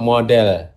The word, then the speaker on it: model: Okay, now the word mod, how do you pronounce that word there? Hypothetical model. Not model, model.